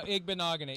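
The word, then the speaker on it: Igbinoghene: No, Igbenogany.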